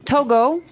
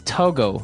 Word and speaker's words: Togo: country togolese togalese okay so it's togo that's the way you pronounce it because if you look at it i would say to go right but it's not to go it's togo or as my french-speaking